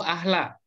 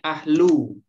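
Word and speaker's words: أهلُ: Apa bacanya? Al-zalimi ahlu ahla. Nah, yang benarnya ahlu. Ahlu. Ya, ahlu.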